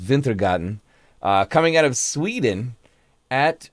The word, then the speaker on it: Wintergatan: Something from Wintergatan, which I think is actually pronounced Wintergatan, coming out of Sweden at Wintergatan 2000 on Instagram, if you end up enjoying this.